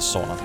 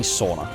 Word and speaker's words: sauna: So you should be pronouncing it the way that we do, right? Say it's sauna. Sauna. Literally like A in English. You can kind of use the English alphabet for it even.